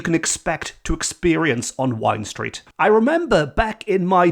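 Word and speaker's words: Wind Street: Street and that is Wine Street which confuses a lot of tourists because it's spelled w i n d so people might think it's wind stre but I can assure you it's definitely Wine Street and that more boozy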